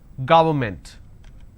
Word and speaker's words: government: not against its against government how do i pronounce this ga it's go worn government and you pronounce this when you make a mistake as government so don't say it's government it's government environment against extra all right